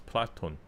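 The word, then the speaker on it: Πλάτων: Socrates and we say platon cuz uh we don't say Plato. Yeah, it's platon.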